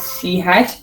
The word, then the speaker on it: C#: So you will be seeing it as C#, but it's pronounced as C#.